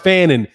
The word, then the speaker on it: Fannon: the name for my name is a surname in ireland it's pronounced fannin yeah i mean i'm sure